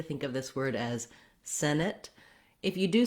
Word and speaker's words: Senate: the first syllable Senate you'll also notice that if I say Senate by itself I don't release that T I use what's called a stopped te so not Senate but Senate no air released there